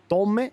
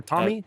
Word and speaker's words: Tomi: Tomi is how you pronounce it, or Tommy? Tomi. Tomi. Yeah.